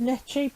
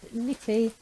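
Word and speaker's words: Necchi: you can see it's a nikki i would pronounce that net cheap apparently it's pronounced nippy and it was originally a italian make well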